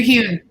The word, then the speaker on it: Huhn: Did I say it right? Dr. Huhn. Yeah, Huhn. That's it.